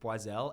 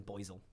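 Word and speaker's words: Boizel: champagne house the b-o-i-z-e-l some people say it very German boisel which is hilarious are you going there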